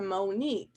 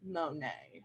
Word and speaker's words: Monet: like my mug it's a Monique and then at the end the guys like no and also it's pronounced Monet and so kind of